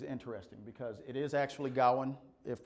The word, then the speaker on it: Gawain: So Gawain and the Green Knight, and you'll find that my accent is always mispronouncing it, which is interesting because it is actually Gawain if pronounced properly.